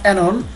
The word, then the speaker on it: Oenone: তো অনেকে এটিকে অইনন বা অ্যানন বিভিন্নভাবে বলতে পারেন, আসলে এই নামটি হচ্ছে অ্যানন।